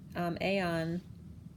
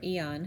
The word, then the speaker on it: Aeon: we have Pisces is the Aeon or Eon however you want to pronounce it it's like the